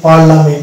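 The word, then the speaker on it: parliament: কয়েকটা শব্দ যেমন এখানে এই শব্দটা আমরা উচ্চারণ করি পার্লামেন্ট এখানে আই সালে থাকে এখানে আই কোন উচ্চারণ আসছে না পার্লামেন্ট এখানে এ উচ্চারণ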